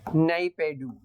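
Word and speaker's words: Naypyidaw: Military Q है, capital है नाईपेडू। नाईपेडू capital of Myanmar. Sir Hindi में तो लिखा होता है नैपीता। इंग्लिश में तो प्रोनाउंसिएशन यही बोलते हैं, नाईपेडू।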